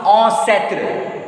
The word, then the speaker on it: ancêtre: Ancestor, he pronounced ancêtre. Ancêtre. A-N nasal vowel sound. Then say is followed by a. Means so. Then a will be pronounced a.